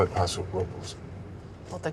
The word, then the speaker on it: Paso Robles: I'm actually going to Paso Robles. They call it Paso Robles, Well, the correct pronunciation is Robles. but they call it Robles.